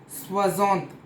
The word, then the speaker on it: soixante: O-I is pronounced as Wa in French. So Wa. For the example of this one is soixante. Soixante is 60 is soixante in French. S-O-I-X-A-N-T-E, that is S-O-E-X-A-N-T-E. Soixante. Wa. Soixante. It's not soixante. Soixante. X is silent here.